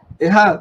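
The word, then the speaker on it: אחד: utilizada la palabra hebrea que se pronuncia Ejad o Eshad, decía yo, pero se pronuncia Ejad.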